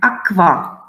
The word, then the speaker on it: aqua: Ku always goes in combination with u, and it's pronounced as kv, like this, like aqua.